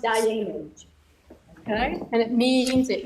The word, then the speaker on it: Dayenu: It's pronounced Diamond.